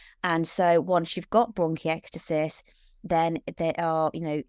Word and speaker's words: bronchiectasis: Hope I pronounced that something like right. Yeah, bronchiectasis.